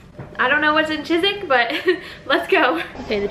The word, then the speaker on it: Chiswick: want to butcher it it's Chiswick for me and it's like chizuk for British Brits for the Brits so that's what we're